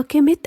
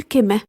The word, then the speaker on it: كيمت: وفي الخط الهيروغليفي اتذكرت الكلمة في أغلب المرات بحروفها الساكنة التلاتة، الكاف والميم والتاء، فبقى نطقها كيمت أو ينفع نقول كمة.